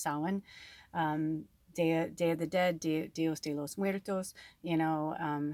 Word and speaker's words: Samhain: ever saw the word it looks like samhain but it's pronounced sawin um day you know